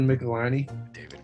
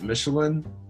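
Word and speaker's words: Michelinie: it was a kid i always pronounced it michelin which doesn't make sense even a little bit when you look at how it's spelled but hey we were from a small town we didn't know that we were gonna be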